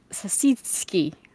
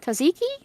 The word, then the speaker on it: Tzatziki: Sasitsky. I can't say that. I don't even know how to. Can someone spell it out like how you would like pronounce it, please?